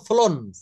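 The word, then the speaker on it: flown: চালিয়েছে ড্রিভেন কার সে একটা গাড়ি চালিয়েছে এটা উচ্চারণ আমরা বলব ফ্লোন ফ্লোন এফ এফ এল ও ডব ডবলিউ এন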